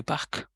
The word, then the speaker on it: parc: The spelling is different, but the pronunciation same, and it means a park. And how will you say the park? Le parc.